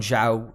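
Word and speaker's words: Zhou: know they're banking on show is it is that how you say it am i saying it right a show joe joe joe there you go um you know shows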